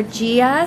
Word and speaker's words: Jia: we wrap it up we are gia salon and spa and that's spelled with a j confuses a lot of people but we are at